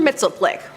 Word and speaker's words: Mxyzptlk: Mxyzptlk. Mxyzptlk? Now I spent some time practicing how to say this, and I ended up going with the Superman animated series Gilbert Gottfried pronunciation.